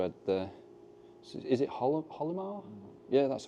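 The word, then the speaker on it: Hylomar: So is it Holomar? Yeah, that's how you pronounce it, yeah.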